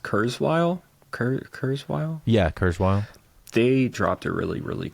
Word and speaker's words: Kurzweil: That is it pronounced Kurzweil? Kurzweil? Yeah, Kurzweil.